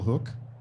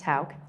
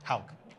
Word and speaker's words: Hauk: First, we have Hook. Is that how you pronounce your name? It's Hauk. Hauk.